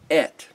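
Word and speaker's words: את: projecting this communique but the aleph is silent the aleph is not uttered by default it's given an e sort of articulation when you speak the aleph like et is the way you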